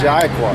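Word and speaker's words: יעקב: in the Hebrew, all right, is how the way you pronounce it is Yaquah.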